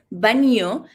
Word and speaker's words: baño: So this sound could be like, you can try it as B-A-N-I-O. Yes, that is baño.